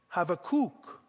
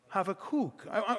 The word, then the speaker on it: Habakkuk: In Hebrew, they say Habakkuk. Habakkuk. Try that with me. Say it with me. Habakkuk.